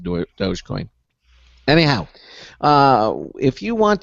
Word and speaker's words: Dogecoin: for mining cryptocurrency and even he pronounced it doggy coin which i was quickly to point out so i said isn't the dogecoin you didn't know how